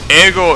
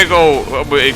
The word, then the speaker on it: Eggo: fast food okay so ego is not the pronunciation it's eagle okay yeah eggo because it comes from egg i see that's why